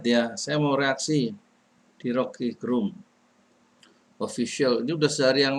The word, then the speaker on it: Rocky Gerung: Ini bacanya bukan Rocky Gerung tapi Rocky Gerung kalau menurut lidah dari suara dari Rocky Gerung sendiri ya.